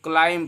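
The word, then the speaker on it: climb: इसको पढ़ेंगे क्लिम्ब, तो क्लिम्ब नहीं पढ़ते हैं, इसको क्लाइम पढ़ते हैं। क्या पढ़ते हैं क्लाइम। बी नहीं पढ़ेंगे यहाँ पे, क्योंकि एम से पहले एम के बाद अगर बी आता है तो बी साइलेंट हो जाता है।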